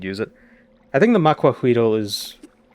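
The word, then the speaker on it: macuahuitl: Although I don't think it's actually pronounced macuahuito. It's spelled that way, but I think it's macuahuit. Or huitre. Like the TL sound in Nahuatl is unique.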